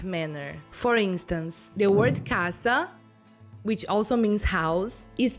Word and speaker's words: casa: Let's take the word casa or house, for example. The first A is very open, while the second A is very closed, so it's casa.